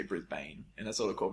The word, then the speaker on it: Brisbane: Same as Brisbane.